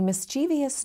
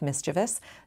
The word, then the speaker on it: mischievous: My silly sentence included 3 questionable pronunciations: mischievous instead of mischievous, nuclear instead of nuclear, and library for library, all of which are in our dictionaries.